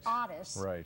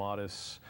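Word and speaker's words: Ottis: John Walsh calls him Otis and uh so it is pronounced often both ways but Otis I believe is the correct way well go tell us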